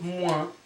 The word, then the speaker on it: moins: You don't pronounce the last letters, as you know already. C'est Thomas rule, as I call it. 7h moins 20.